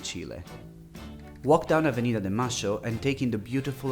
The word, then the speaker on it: Mayo: Stunning Plaza de Mayo, or Plaza de "Masho" if you want to pronounce it in the Argentinian way, is the historical heart of Buenos Aires.